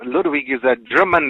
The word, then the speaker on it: Ludwig: that german accent yeah in the german accent ludwig sounds like it's um the w is pronounced like a like uh like a v and um that was